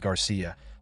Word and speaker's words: Garcia: he sincerely thanked him, casually mispronouncing his name as Cigar. Garcia glared at him darkly, shouting with intense annoyance that his name was Garcia, warning Aega that he was already reconsidering his decision to tag along.